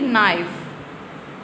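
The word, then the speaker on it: knee: अब हम इसको हम कनी नहीं बोलेंगे। ठीक है? नी नी इसको हम नी बोलेंगे। के साइलेंट है।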